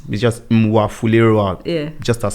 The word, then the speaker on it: Mwafulirwa: So your surname, Mwafulirwa. Yeah. Is that the right way even to pronounce it?